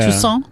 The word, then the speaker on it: Toussaint: Toussaint?